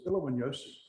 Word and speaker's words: Ilowanyosi: And I finally figured out it was really phonetic. I just learned to do it phonetically.